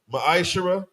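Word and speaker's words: מעשר: Book of Malachi 3:es 8-10 means 10th in the Hebrew it's pronounced maishara that's 10% of every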